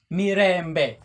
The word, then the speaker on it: Mirembe: We have me as one, re as two, mbe, three. Mirembe.